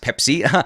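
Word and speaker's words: PEPC: what it is and it's pronounced Pepsi it stands for protocol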